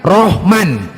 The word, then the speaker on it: Rahman: Ketika tertulis Rahman, R-A-H-M-A-N, kalau orang Jawa mengatakan Rohman. Wah, Rohman nandi kue, Rohman nandi. Nandi kue. Kalau orang Barat, kalau orang Barat membacanya Rahman, Laman.